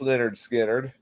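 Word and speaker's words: Lynyrd Skynyrd: we're going to be reviewing their debut album pronounced Leonard skinnard and it's already loaded with some of their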